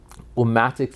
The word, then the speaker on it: Ummatics: um came from um omatics literally you could say it it rhymes with politics right and that's sort